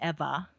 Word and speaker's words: Ewa: didn't understand it because Eva is spelled Ewa but it's pronounced with a V sound Eva um and my auntie